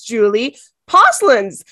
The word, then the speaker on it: Julie Posluns: founder of cat school and her name is Julie pins welcome Julie did I pronounce that properly I did oh my goodness